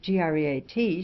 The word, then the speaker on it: great: Chesterfield told me that the word great should be pronounced so as to rhyme to state, and Sir William Young sent me word that it should be pronounced so as to rhyme to seat, and that none but